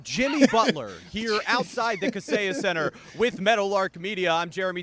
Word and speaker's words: Kaseya Center: Not at the Kaseya Center. That's not how you say it. It's the Kaseya Center here in downtown Miami.